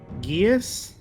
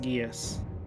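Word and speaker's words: geas: a s question mark guias g-e-a-s i think it's pronounced guias and it's it's sort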